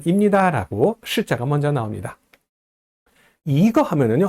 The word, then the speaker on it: 一: 근데요 한 개라고 할 때는 이거 하지 않고 이거 이를 올려서 발음합니다.